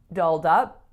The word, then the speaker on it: dolled up: dinner so dolled up which syllable is the strongest here the second right kind of like similar to a phrasal verb and what else dolled up has two vowel sounds and both are really important so make sure the